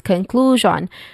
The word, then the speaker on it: conclusion: conclusion it's it has um the stress syllable is on the second syllable clue which has a long ooh sound and then shan shan